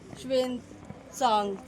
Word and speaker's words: Xuanzang: श्वेन सांग सही प्रोनाउंसिएशन अलग अलग है।